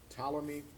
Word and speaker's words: Ptolemy: so that's the north ptolemy is the one you might have heard of that the p is silent p-t-o-l-e-n-y ptolemy's the ptolemy's